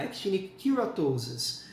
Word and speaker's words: keratosis: De modo geral, assim, no inglês, se tiver que chutar, chute o K, actinic keratosis. Geralmente eles usam a pronúncia com K.